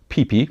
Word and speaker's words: Pipi: It's a conflict over Pippi Longstocking, and what we have here is a Yugoslav era beverage called Pipi, that's with a single P and pronounced accordingly.